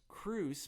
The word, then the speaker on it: Kroos: for the mailing list cruz my last name is i i guess you have it here on the podcast but yes it's spelled just like kangaroos without the anger k-r-o-o-s um check out the